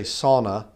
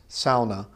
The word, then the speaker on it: sauna: that is it's a a lot of people say sauna but sauna is not actually the right way to say it's SAA uh sort of like sour cra sa is sa so the you know it's